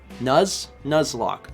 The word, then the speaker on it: Nuzlocke: Nuzlocke. Okay. They should really put 2 Z's on it.